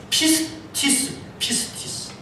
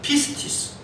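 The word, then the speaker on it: πίστις: 여러분, 믿음이라고 하는 말의 헬라어는 피스티스. 우리 영어로 피스라는 말과 똑같은 발음을 쓰고 있습니다. 피스티스.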